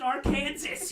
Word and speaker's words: Arkansas: It's pronounced Arkansas, you idiot!